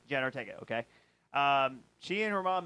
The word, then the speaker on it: Jenna Ortega: So then Jenna Ortega, how do you pronounce her name? Jenna Ortega. Jenna Ortega.